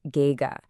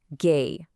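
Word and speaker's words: 哥: First up for an older brother, we have ggg pronounced gga. Now the tone here is the first tone. The exact same highle tone we used for mother. Ma. Listen again. Gay.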